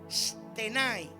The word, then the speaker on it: stenai: La expresión estar firmes viene del original griego y se pronuncia stenai. S t e n a i. Stenai.